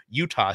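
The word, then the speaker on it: Eutaw: don't know it doesn't it's not spelled like the state of Utah either it's e-u-t-a-w Utah Street Utah Street is a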